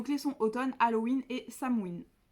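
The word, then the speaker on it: Samhain: sont automne Halloween et samoine qui s'écrit Sam 1 Sam parce que moi pas dans longtemps je me suis demandé en fait de quoi en parler mais en fait ça se prononce pas du tout comme ça s'écrit donc voilà donc là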